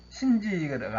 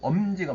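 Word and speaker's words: 臣智: 신지가 아니고 엄지가 맞습니다.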